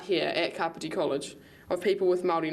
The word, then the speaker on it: Kāpiti: Let's be Kāpiti College, not Kāpiti College.